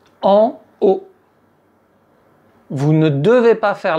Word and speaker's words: haut: En haut. “En_eau”, c'est autre chose ! En haut.